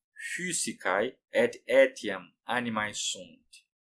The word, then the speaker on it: physicae: Lembrando que na pronúncia restaurada, o Y tem um significado do U, que lembra o francês ou então o alemão com trema. Você faz boca de U e fala I.